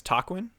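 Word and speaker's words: Taquin: uh my name is tawin t a quu i n nice to meet you uh it's literally just pronounced like the word talk and win combined just talk win I only clarified the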